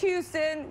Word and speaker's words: Houston: It's Houston. We say the H.